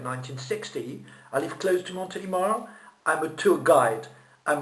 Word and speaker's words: Montélimar: Montélimar, c'est une ville en France, on dit Montélimar, on va pas dire Montélimar, d'accord?